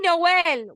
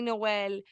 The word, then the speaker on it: Noel: amazing human being Eddie Noel was against on LOL okay because his last name rhymes with our show no because he's killing